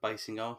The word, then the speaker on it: Basinger: It is Basinger. And funnily enough, the only way I know that is because I've just seen the Simpsons episode where her and Alec Baldwin are in it, and Homer pronounces it wrong.